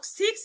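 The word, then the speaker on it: sechs: আচ্ছা এবং সিক্স যেটা সিক্স কে বলা হয়।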